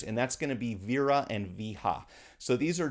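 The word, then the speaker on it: Wera: And these are actually spelled these are actually spelled with a W. So, my understanding is that the pronunciation is Vera, but it's Wer A.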